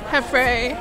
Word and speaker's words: Heffrey: That's Frey, like, okay. That's pronounced like Frey, not. Alright. Heffrey.